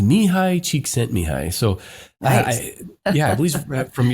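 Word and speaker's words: Mihaly Csikszentmihalyi: It's pronounced Mihai Csikszentmihalyi.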